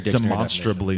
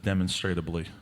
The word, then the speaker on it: demonstrably: It pisses me off that it's pronounced Dictionary demonstrably instead of demonstratably.